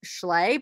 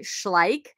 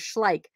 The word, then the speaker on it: Schleich: on the bottom and i always thought this was pronounced schlei but it's actually schleich um so that's how you say it i don't know why i thought it was chlae but i did and that's i confidently would say that as well and somebody's like you're saying that wrong i'm like okay so that's one that i remember now is schleich and uh peo i